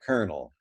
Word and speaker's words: colonel: be something like this we used to actually say the l in colonel but of course we do not say the l we convert the l into its sister liquid r and we stay we say kernel which is more like